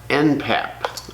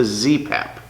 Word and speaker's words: ZPAP: this is a zastava npap i'm sorry oh is it an mpap no it's a zpap the reason i say